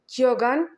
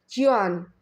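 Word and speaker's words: Keoghan: doctor himself pronounces as Kogan, but I've read a lot of Irish people is an Irish a proper Irish surname. A lot of Irish people is saying is pronounced Kan. So Kan.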